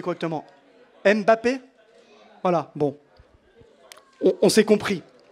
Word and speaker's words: Mbappé: tu peux aller t'asseoir merci alors Neymar Messi Mbappe j'arrive jamais le prononcer correctement Mbappé voilà bon on s'est compris alors volonté du